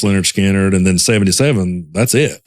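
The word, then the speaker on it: Lynyrd Skynyrd: then 73 is when they put out that Pronounced Leonard Skinner, and then 77, that's it.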